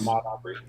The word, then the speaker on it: Ahmaud Arbery: Ahmed Pronounce it. Arbery. Case. Ahmaud Arbery.